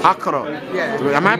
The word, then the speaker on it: Accra: Accra. Accra. Yeah. Am I pronouncing that correctly?